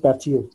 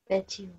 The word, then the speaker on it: patio: বর্ডারের পাশে দেখেন এই যে খালি জায়গা, যেটা পেশিও লিখছে না, পেশিও, PATIO।